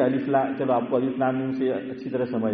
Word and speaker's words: الم: تو وہ پڑھا جائے، لیکن ہم پڑھتے ہیں الف لام میم، حالانکہ ہم ہجے نہیں کر رہے ہیں، ہم کیا پڑھ رہے ہیں ہاشم بھائی؟ رواں پڑھ رہے ہیں، لیکن حروف مقطعات کی پہچان یہ ہے کہ اس کو الگ الگ پڑھا جائے گا۔ الف پورا پڑھا